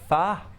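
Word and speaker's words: phở: It's pronounced pho.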